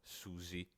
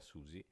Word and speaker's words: Suzy: sua vicina di casa Susi personaggio Mai visto nel gioco e che guarda caso si pronuncia uguale a Susi protagonista di deltaron Tuttavia dopo aver battuto